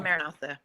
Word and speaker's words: Maranatha: Because at the end of the day, and am I pronouncing it right, Natha? Am I pronouncing it right? Natha or Natha? Yes. It's actually Maranatha, but yes.